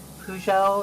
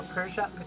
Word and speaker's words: Peugeot: I'm trying to fucking correct my pronunciation of Peugeot or Peugeot. I can't fucking pronounce that fucking shit. Why do we Peugeot.